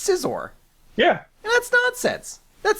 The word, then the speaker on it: Scizor: but Scizor sounds lame he sounds like a pair of scissors and I get the